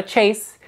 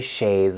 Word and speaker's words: chaise: of it's not a Chase it's not a fainting couch it is a chaise lounge these are often connected